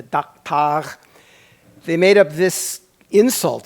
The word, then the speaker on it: daktag: They spelled it that way, pronounced daktag, I guess. So I Klingonized it to daktag.